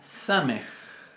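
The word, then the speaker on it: סמך: Después tenemos la samej. Samej, que se pronuncia igual que nuestra S.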